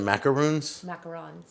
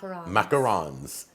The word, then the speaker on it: macarons: her website and order is it macaroons macarons I knew I was pronouncing it right macarons and how many flavors